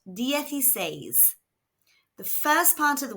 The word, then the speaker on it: dieciséis: It is pronounced dyes.